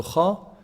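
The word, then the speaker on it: خاء: How do you say Kha? The heavy letter. So Kha is the first heavy letter we have here in the alphabets.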